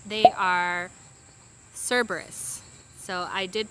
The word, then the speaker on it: Cerberus: uh lastly the uh lines i kept calling cerebros they are cerberus so i did pronounce that wrong i'm correcting it here so